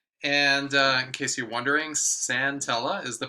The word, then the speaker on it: Santella: And in case you're wondering, Santella is the pronunciation.